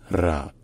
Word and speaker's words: ر: de l'alphabet arabe et elle se dit RA Ra et donc au milieu d'un mot elle se prononce soit comme un r roulé donc donc qui n'est pas vraiment d'équivalent en français mais qui qui correspond au R italien ou r espagnol en début de mot